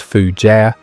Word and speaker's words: fougère: Fougere, pronounced fougère, means fern in French, though these fragrances do not actually smell of fern.